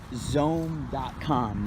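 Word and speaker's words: Xome: online auction I believe it was zone comm which is actually spelled with an X X ome calm and and yes so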